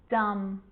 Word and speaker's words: dumb: with the letter b it's always silent when it follows the letter m climb crumb lamb thumb dumb and plummer so practice them with me i'm not pronouncing the b i'm just pronouncing the m consonant sound climb crumb lamb